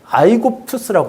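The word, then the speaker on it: Αἴγυπτος: 근데 이제 우리가 뭐 이집트라고 부르는 그 애굽이라고 부르는 그 나라가 이제 이름이 미즈라임인데 근데 그리스 나라를 뭐라고 불렀냐면 아이고투스라고 불렀어요. 아이 굽토스. 이제 애굽 그 발음이죠.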